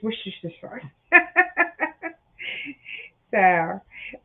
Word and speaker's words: Worcestershire: It's Worcestershire sauce. So, all right. Who directed the 1999 film Sleepy Hollow, which starred Johnny Depp as Ichabod Crane? Ichabod Crane. Yeah, Worcestershire, Worcestershire, Worcestershire, Worcester.